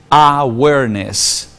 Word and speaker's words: awareness: la ven los animales hay una palabra en inglés que dice awareness awareness se escribe agua arnés con w y doble s al final esa palabra no tiene